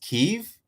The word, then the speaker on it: Kyiv: of ukraine the new uh spelling k-i-y-v is pronounced kyiv but uh regardless support the people of ukraine